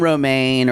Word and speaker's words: Romain: Mary and Romaine are at their house on Romaine. She calls him Romaine. It's actually it's pronounced French. I think she just does it anyway. It'd be Romain.